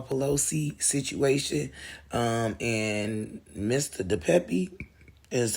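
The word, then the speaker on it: DePape: on the Paul Pelosi situation um and Mr the Pepe is how they pronounce his name so it says suspect and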